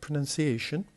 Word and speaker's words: pronunciation: And then we have the word pronunciation, same as communication. Pronunciation, we have 5 different syllables, and the stress is on the fourth, the one before the last.